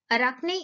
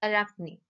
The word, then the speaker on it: Arachne: story unit 6 the story of arachne children arakhni is a great name its spelling is a r a c h n e but its pronunciation is arachni and this story is from greek mythology mythology